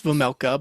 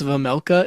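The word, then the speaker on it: Vejmelka: So you when you pronounce the whole last name, it's Vamela, but there's a J in there like V vega.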